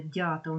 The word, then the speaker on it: дятел: тут дь до речі не забудьте дятил наголошний перший склад значить е з наближенням до е вимовляємо дяте і звідти вимовляємо звукосполучення